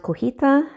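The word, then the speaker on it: cotija: It's pronounced cojita cheese, the Mexican cheese, but I bought feta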